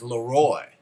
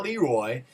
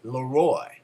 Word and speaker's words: Laroy: famous his name is Laroy it's not Leroy its Laroy and he'll make sure